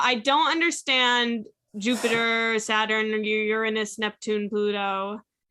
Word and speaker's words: Uranus: Gemini Saturn and Taurus Uranus and Aquarius and Pluto and Sagittarius no I didn't do the emphasis you did I didn't do an emphasis I said it right you said you're anus we'll play back the